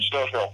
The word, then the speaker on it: Stofiel: Is it Stofiel? Did I pronounce that right? Stofiel. Stofiel.